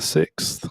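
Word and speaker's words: Sicks: The Wyatt 6 but it's spelled s i c KS but it's supposed to be like six the number six now you know um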